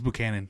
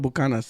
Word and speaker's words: Buchanan: How do you say that in English? Is it Buchanan? it's Buchanan. Is Buchanan? Buchanan. Why do Mexicans call it Bucanas? There's Because no we're Mexican, dog. There's no S in that bottle.